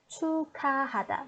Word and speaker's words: 축하하다: So we put this part and this part together, and we should change the pronunciation a little bit into k, ka. So it's 축하하다.